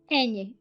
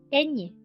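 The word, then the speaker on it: eñe: nobody else has this any and is easy to pronounce because it's like the cluster and G like in lasagna or n y and vowel or n i and vowel like in Canyon that is ESP Manana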